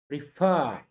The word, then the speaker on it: prefer: This is pronounced as prefer.